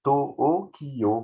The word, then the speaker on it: Tokyo: Vous voyez, quand je vous dis Tokyo, c'est To-O-Kiyo. Vous voyez, il y a 4 morts, ils appellent ça des morts. Alors que là, on dirait, il y a 2 syllabes, Tokyo. Mais ça fait 4 sous-syllabes, Toho, Kiyo. Vous voyez.